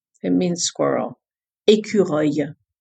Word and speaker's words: écureuil: Numéro 10, écureuil. It means squirrel. Écureuil. Écureuil.